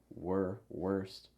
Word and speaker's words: worst: Also, when you say worst, quick note on the pronunciation, make sure that your lips are going horizontal. Worst.